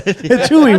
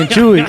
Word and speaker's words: Chuy: And I feel like in Mexicans, they spell it like CH, like Latinos spell it CHUY. Yeah. Versus like the other way, which is what, like the regular Chewy way.